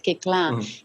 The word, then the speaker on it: Koechlin: But look, if I try to explain it in the French way, which the name is French, right? Kekla. And in French, you just don't pronounce the last 5 letters in the word.